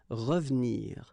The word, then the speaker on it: revenir: So you've got re and then ve and nir, but then clearly you don't pronounce it, so you get revenir, revenir. Okay, same thing here, appeler,